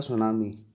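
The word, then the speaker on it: tsunami: वो होता है सुनामी। ये टी से शुरू है, टी साइलेंट होता है, इसलिए सुनामी बोला जाता है इसे, पर लिखने में टी आगे आता है।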